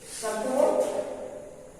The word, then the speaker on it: support: हो जाएगा तो सा, फिर प पर ज्यादा स्ट्रेस है तो इस पर जो है प्राइमरी स्ट्रेस है तो पी पर प्राइमरी स्ट्रेस देंगे पा, फिर आर के बाद चूंकि टी है इसलिए आर का उच्चारण नहीं होगा।